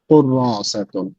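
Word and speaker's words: كُرَّاسَةٌ: হাদিহি কুররাসাতুন, কুররাসাতুন, রায়ের পরে একটা ছোট্ট টান হবে। হাদিহি কুররাসাতুন, হাদিহি কুররাসাতুন।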